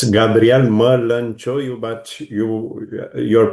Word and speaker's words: Gabriel Mălăncioiu: Yes, it's Gabrielle Merlin Choy. But you your pronunciation was quite good.